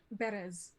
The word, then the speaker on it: Berez: How do you spell that? It is the town of... Berez.